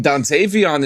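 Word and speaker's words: Dontayvion: The Dantavian. Is it Dantavian? It's just Dant. Yeah. Oh, you said Dantavian. I mean, Dantavon is correct, too.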